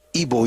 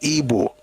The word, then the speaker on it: Ibo: The pronunciation, the way they pronounce it traditionally in their own language is Ebo.